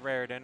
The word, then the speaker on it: Rarden: I believe it's pronounced Rarden. I heard the announcer say it that Rarden way. Rarden it is.